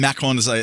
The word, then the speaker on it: Macron: But and then Macron talked about it, and I'm sorry that I pronounced the R like that, but my wife is French and she'd kill me if I didn't.